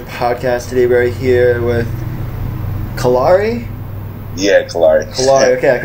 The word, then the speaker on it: Callari: I mean, it's technically pronounced Callari. Yeah. People pronounce it like Callari, whatever they want to pronounce it.